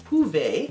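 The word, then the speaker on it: Hyve: And the word hive, H-Y-V-E, is actually pronounced huve.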